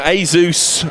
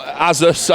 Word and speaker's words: Asus: so um we got uh you know Asus or azus I always pronounce it wrong I prefer Asus it just sounds cooler but I'm pronouncing it wrong evidently uh Republic of Gamers